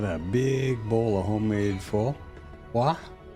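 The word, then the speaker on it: phở: Well, now I have just had a big bowl of homemade Fua, which nonVietnamese speakers will pronounce fo, but it's actually fa.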